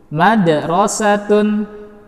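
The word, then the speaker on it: مَدْرَسَةٌ: sekali lagi madrosatun Hai huruf Qalqalah yang berada pada kata madrosatun adalah huruf Dal yang berada di tengah kata maka cara bacanya dengan tidak terlalu menguatkan pada tekanan Qalqalah tersebut artinya bacalah sesuai dengan aliran nafas kita saja a mother closed on tidak na De Rose tune tidak seperti itu tapi madrosatun qalqalahnya sugro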